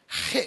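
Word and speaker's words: ה: இந்த எழுத்து உற்சுவாசத்திலிருந்து வரவேண்டும் நீங்க ஹே சொல்லும்போது வாயால சொல்ல முடியாது தொண்டையால உள்ள இருந்து வரணும் உள்ள இருந்து வரவேண்டிய சொல்தான் ஹே இந்த போட்டிருக்கிறேன் பார்த்தீங்களா ஹே உச்சரிக்கப்படுவது உள்ளிருந்து வெளிச்சுவாசம் மூலமாகவே pronounce ஹே only through exhale you have to breath out exhale வெளிச்சுவாசம் இந்த ஹே என்ற தேவ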